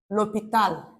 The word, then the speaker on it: l'hôpital: For example, l'hôpital, H-O. There is accent circumflex, I'll call it accent chapeau. P-I-T-L. This H is silent. The H is silent. It's a semi-vowel sound.